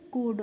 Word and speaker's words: could: Rule समझना है कि किसी भी शब्द में जब L के बाद D आता है तो वहाँ पे जो L होता है उसका हमें प्रोनाउंसिएशन नहीं करना होता है, इसीलिए इसको हम बच्चों कुल्ड नहीं पढ़ते हैं, क्या पढ़ते हैं कुड।